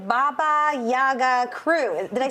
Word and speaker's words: Baba Yaga: Okay, your shirts say Baba Yaga Crew.